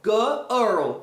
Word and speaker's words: girl: Girlar. It's like girl earl. Earl earl like early. Early.